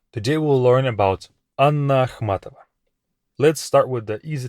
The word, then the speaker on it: Ахматова: Anna Ахматова is of course the way you say her name.